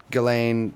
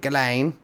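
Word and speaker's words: Ghislaine: what was that going ghilane what is that that's going Maxwell's name that's how you say it it's like an Australian kind of said ghilane that's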